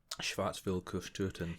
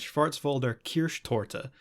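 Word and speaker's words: Schwarzwälder Kirschtorte: getting reservations at a german restaurant and um schwartzville couscoutton yeah well this is what he asks for absolutely mispronunciation actually i looked up because i was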